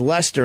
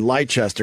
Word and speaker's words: Leicester: story right it was the town I think is Leicester and I called it light Chester because that's how I looked at me and I realized that I pronounced it wrong it was my big